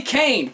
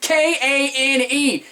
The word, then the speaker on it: Kane: His name is Billy Kane, K-A-N-E. It's not Billy Kane. vowels. Sound it out!